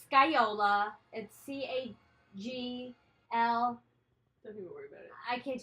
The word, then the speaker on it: scagliola: put a link it's sky Ola and CA GL I can't do it inside but the pronunciation of sky Yola and it's a 15th